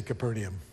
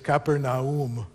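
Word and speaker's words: Capernaum: anything how many of you know how to pronounce keram how many of you say capernium I say kaeper we're all wrong we're all wrong so this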